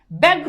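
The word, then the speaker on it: ব্যগ্র: জফলের সাথে আকার আসে ব্যাগ্র দেখো জফলের সাথে আকার নাই উচ্চারণে জফলের সাথে আকার আসে ব্যবস্থা আকার নাই আকার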